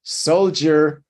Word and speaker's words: soldier: Soldier, siempre con la D. Hay que prestar atención que hay veces que va a sonar como una Y de yuca.